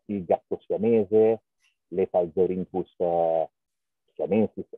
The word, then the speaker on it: siamensis: Le Palzorintus siamensis, tu lo devi pronunciare siamensis, perché è in latino e va pronunciato certo. Così. Però gli inglesi volevano che suonasse Siam Ensis.